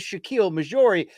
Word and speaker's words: Shakiel Mahjouri: But I did give a bad pronunciation of Shakiel. It is Shakiel Mahjouri.